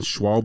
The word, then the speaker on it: Schwalbe: I think it's because you're Instagram you're Megan Schwab schw soon to be a haym maker soon